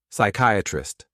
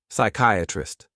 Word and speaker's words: psychiatrist: okay okay now l l now ready okay psychiatrist okay psychiatrist again lots and lots of letters right and